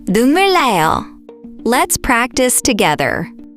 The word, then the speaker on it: 눈물 나요: When 니은 and 리을 come next to each other, the 니은 often changes to an 리을 sound.